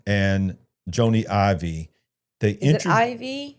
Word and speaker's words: Ive: It's pronounced Ivy.